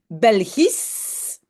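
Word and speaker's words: belgisch: ce cas-là très facile on prononce s h comme s un simple s donc belge je dis belgis simplement un S au bout et donc quand c'est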